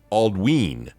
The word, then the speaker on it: Aldwin: ELD adiran some examples aldwin is pronounced alwe because of the long vowel sound in the Y dernis is pronounced derish